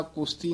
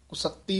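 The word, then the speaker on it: ਕੁਸਤੀ: कई पाठी सिंह जिन्हें दी संथ्या नहीं कीती होंगी वो कुश्ती कह जाते हैं, इस करके ध्यान ना कुश्ती नहीं कहना है, तो गलत है। कुसत्ती उच्चारण करना है, कक्के तो चक के पाठ कुसत्ती गाओ।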